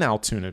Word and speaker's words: Altoona: of altoona pennsylvania and that is altoona spelled with two o's not with a u like your brain is probably assuming it would be spelled like it's all tuna like the fish there's altoona a little